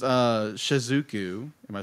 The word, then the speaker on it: Shizuku: anyway uh go bigger uh so it's uh shizuku am I saying that right yes shizuku um